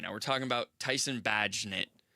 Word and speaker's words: Bagent: We're talking about Tyson Bagent. And Bagent. Rhymes with agent.